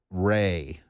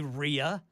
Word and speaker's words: Rhea: Why did I say Rhea? Rhea. Why do I do that? I mean, it's spelled R-H-E-A. I should have known that's Ray County.